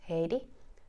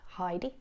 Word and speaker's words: Heidi: hey DIY is because my name is pronounced Haiti not Heidi it's Haiti and hey also means hello in Finnish so there is multiple